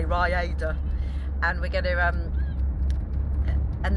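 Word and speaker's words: Rhayader: And then we're going to drive an hour and a half over to Rayada. Rayada. Rayada. How do you say it? Say it differently. Raiders of the Lost Ark.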